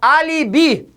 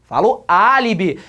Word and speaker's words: álibi: aline eu falo aline ou eu falo álibi álibi a sílaba forte é a terceira de trás para frente tudo bem